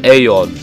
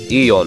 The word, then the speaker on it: aeon: this game goes to aeon or eon however you want to pronounce it he still wins this